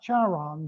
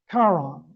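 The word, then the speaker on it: Charon: It's pronounced not Chaon, but Kon in Greek, the large moon of Pluto.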